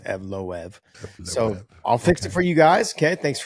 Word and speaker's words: Evloev: saying Eve off and everyone's like, "No, it's Evloev."